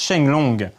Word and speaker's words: Sheng Long: pour espérer me battre mais en chinois les kanji de cho oyu le dragon ascendant se prononcent shine longue dans la première version